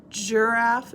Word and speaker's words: giraffe: J sounds like a J, but giraffe does not start with a J. It starts with a G, a soft G sound, J. So, hard G says G, like goat. Soft G says J, like giraffe.